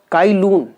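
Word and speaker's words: Cai Lun: चाई लून वी कैन pronounce it, presented paper and paper making process to the Chinese emperor.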